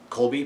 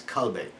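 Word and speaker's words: Colbey: segs over to kobe it looks like it's just colby but they actually show the pronunciation in the book and it's kalbe um and he had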